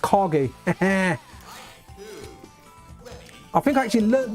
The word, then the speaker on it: Kage: But this guy, I always thought he was called Cage, right? But it's actually pronounced Kage.